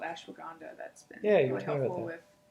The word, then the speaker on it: ashwagandha: But of course, there is a herb called ashwagandha that's been really helpful with.